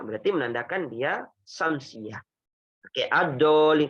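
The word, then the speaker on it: الضالين: Oke, ad-dallin kan dibacanya bukan al-dallin. Nah, ini enggak boleh baca al-dallin, enggak boleh.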